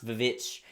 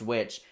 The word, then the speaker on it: VVitch: actually written at the time it was still pronounced which it wasn't pronounced vich you know is it was pronounced which but the letter w did not exist at